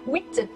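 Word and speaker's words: huit: Oh 8. Mais là ça se prononce comme un oui, mais avec un T.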